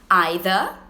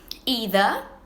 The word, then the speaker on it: either: Now, the first thing we have to talk about here is that you are totally free to choose between either or either to pronounce. They are both correct.